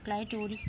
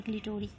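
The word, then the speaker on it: clitoris: क्लाइटोरिस या क्लिटोरिस जो है प्रोनाउंसिएशन आप लोग जैसे करें।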